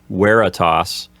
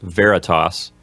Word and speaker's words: veritas: is we're a toss typically when you're studying Latin the letter V sounds like a W so you would pronounce this word like we're a toss not Veritas and that means truth